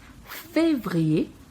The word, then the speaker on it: février: Janvier, février, o E bem pronunciado no início porque tem um acento agudo.